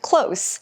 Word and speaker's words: close: 好，那同学我们来看一下单字哦。第一个是 close，注意发音，它是形容词。如果它是动词，就是 close，它这个是 close，很近的哦。比如说 My house is close to the school，我家呢离学校很近。记得 be close to 要加这个 to 哦。好，那我们来看一下下一个哦，就是呢。下一个例句 Do you hear that loud noise?